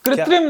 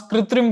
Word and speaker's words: Krutrim: है इतना कृ आदत इंग्लिश में कृत्रिम लिखा हुआ है प्रोनाउंस कृत्रिम किया जा रहा है एंड जो मेरे लिए